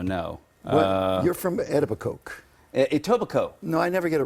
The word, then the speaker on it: Etobicoke: never get it right itoba Coke the K is silent obviously to obviously the K is silent it's just like having a nice bottle of uh of uh it's like Co be Co it's like Co bear